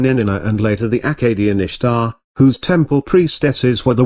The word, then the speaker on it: Ishtar: a festival called Easter Ishtar which is pronounced Easter was a day that